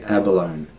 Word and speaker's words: abalone: Alright, abalone. Or in some parts they say abalone. Abandon.